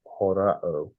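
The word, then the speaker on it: ὁράω: There's a H in the beginning.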